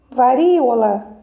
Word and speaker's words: varíola: Varíola, né? A sílaba mais forte, a sílaba tônica, está na antepenúltima. Olha o ri, varíola. Então, ela é uma palavra proparoxítona, tá?